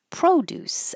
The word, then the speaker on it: produce: produce as a noun stress on the first syllable and it's an o pro produce.